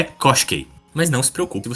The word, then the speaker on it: Koshchei: ver que a a se escreve cochi, mas você tem que pronunciar como cose.